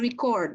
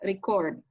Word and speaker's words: record: Bahasa Inggris itu suka ada kata-kata yang tulisannya sama tapi cara membacanya beda dan artinya beda. Nah, kalau merekam itu record, kalau yang di sini artinya apa? Bacaannya record. Record itu adalah catatan.